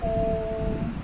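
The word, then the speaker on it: ओ३म्: जैसे ये हमने लिखा ओम, इसमें जो ये एस बना हुआ है ये इसका मतलब है कि ये प्लुत स्वर है और इसको बोलने में, उच्चारण करने में हमें ज्यादा समय लगेगा।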